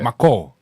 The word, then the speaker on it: Micall: Because obviously it's funny when we were talking about Ghanaian, I spelt it the simple, like how my dad calls me. That's why it's spelt that way. Yeah. Micall. Hey, Micall. Oh, Micall.